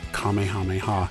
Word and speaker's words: Kamehameha: I've also learned that there's actually some debate over the correct way to pronounce Kamehameha the English dubs have done it differently over the years some have pronounced it as Kamehameha or Kamehameha and others have said Kamehameha apparently that is the more correct way to say it I'm sure I'm